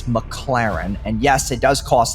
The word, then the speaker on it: McLaren: spends filling up a McLaren's tank. Okay, so this part pisses me off because he says the name wrong like 8 times in a row. It's not McLaren, it's McLaren.